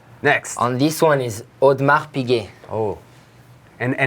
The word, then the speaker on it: Audemars: Audemars, there's no S. I mean, the S is... there is, but you won't have to pronounce it.